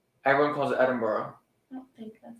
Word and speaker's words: Edinburgh: I think it's pronounced Edinburgh. Everyone calls it Edinburgh.